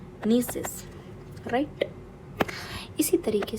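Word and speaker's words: gneiss: नीसिस बोलते हैं। कोई लोग जीनेसिस भी बोल देते हैं। बट नीसिस will be the correct pronunciation नीसिस।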